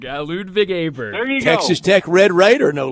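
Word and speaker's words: Ludvig Åberg: matches for for lud B Bryant got the pronunciation no no no no John no John you have to do this D truck ludig aberg ludig aberg Texas Tech Red Raider no less guns up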